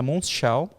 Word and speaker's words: Monschau: cidades, que eu cheguei numa cidade chamada Monschau, e realmente pronuncia assim, né?